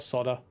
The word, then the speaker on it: solder: Yes, I pronounce it solder. I'm sorry, I'm English. It's our language. I'm sorry. People are going to complain that. I know they are. But we've got solder or soda or soda or however you want to actually